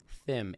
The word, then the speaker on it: Thimm: um how do you say your last name Thim Thim Thim um here to talk about his